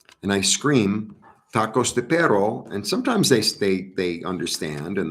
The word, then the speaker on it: perro: But sometimes they're like, come and get me, Tacos de perro. Got to work on my R's. All right, because perro, P-E-R-O is bud, but P-E-R-R-O is dog. And it's a little bit different pronunciation.